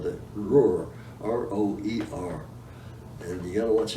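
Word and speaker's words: Roer: And you gotta watch out because there's 2 rivers that sound like the same. There's the Ruhr, R-U-H-R, that's over around Dusseldorf, and the R-O-E-R, which is pronounced as Ruhr as well.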